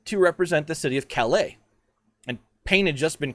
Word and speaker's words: Calais: by some enthusiastic admirers calais c-a-l-a-i-s you can google some of these things i mean just right there french city kelly you get it trust me calais will come up if you spell it c-a-l-e-y but i'm happy to